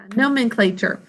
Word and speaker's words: nomenclature: of giving things names nomenclature rhymes with nature or has the same spelling pattern as literature nomenclature nomenclature okay here